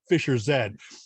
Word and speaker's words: Fischer-Z: found out that the band's name was actually pronounced Fischer-Z.